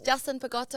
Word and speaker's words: Justin Pagotto: Yeah, and so we've got Justin Pagotto. Is that right? Yes, Justin Pagotto. Yeah, you pronounced it correctly.